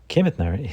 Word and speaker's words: Kemetner: Make sure you pronounce it correctly. Kemetner is one of only two producers in our